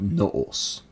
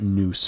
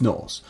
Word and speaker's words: nous: And this linguistic tool is called noos. Orthodox pronounce it nous for some reason. It's very annoying. It's noos.